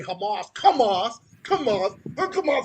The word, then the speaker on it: Hamas: They they they can't pronounce Hamas. Yeah, they say come off.